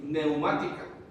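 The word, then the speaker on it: pneumática: La palabra usada en griego es neumática, se escribe con una P al principio, neumática, y tiene que ver que son espirituales o tienen relación con el Espíritu Santo de Dios.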